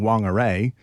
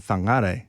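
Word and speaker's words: Whangārei: in pronunciation okay so I didn't grow up with my neural Pathways and synapses learning wangare so I just learn fangar yeah yeah and so that's one little way yeah I've had to relearn it um and particularly for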